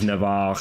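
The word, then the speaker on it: Navarre: So, it's actually a um moot point, but I'm pretty sure that the French monarch of Navar at the start of this campaign would pronounce it Navar.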